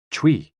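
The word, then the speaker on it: chui: associated with the lungs c-h-u-i pronounced like tui with a forceful exhale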